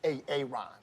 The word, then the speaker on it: Aaron: you say it the first time I said a a Ron because it's pronounced Aaron you're done messed up Hey Ron